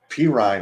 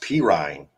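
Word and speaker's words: Perine: Pirine, rather. That's how it's pronounced. Pirine.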